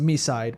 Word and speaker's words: MiSide: By the way, we we found confirmation from the English dub that the game is pronounced Misside because one of the meetas say Misside.